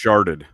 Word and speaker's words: Chartres: I think it's pronounced sharded.